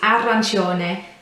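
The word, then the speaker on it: arancione: and it's um uh whenever it's c or an i it's always a ch ch sound so some a common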